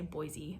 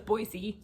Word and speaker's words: Boise: You can tell I'm not from here by the way I say Boise. I know it's Boise.